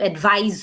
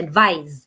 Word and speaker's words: advise: যখন আমরা অ্যাডভাইস CE বলি তখন কিন্তু অ্যাডভাইস হয়, একটা জ সাউন্ড দিয়ে ওয়ার্ডটা শেষ হচ্ছে, অ্যাডভাইস।